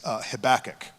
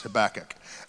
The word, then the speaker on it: Habakkuk: His name is Habakkuk. Habakkuk. He has many pronunciations, Habakkuk. And this is the one we have settled upon.